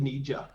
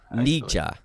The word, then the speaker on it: Nija: is it is it a silent j or or more of a hard one so is it nairo ornisha uh i think i pronounced it nija nija right right right right